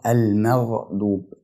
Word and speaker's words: المغضوب: فكلمه المغضوب بنتقل من الترقيق بتاع حرف الميم الى التفخيم بتاع حرف الغين من غير ما الحرفين يتأثروا ببعض، فبنطقها المغضوب.